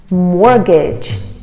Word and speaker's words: mortgage: the real estate agents mortgage mortgage the t is silent mortgage the family borrowed